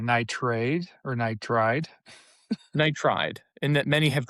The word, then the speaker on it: nitride: Nitride or nitride?